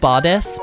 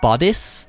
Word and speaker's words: bodice: actually I say it badass but it's actually bodice like it's actually I say it as if I'm saying the word goddess but it's not actually spelled that way it's spelled b-o-d-i-c-e and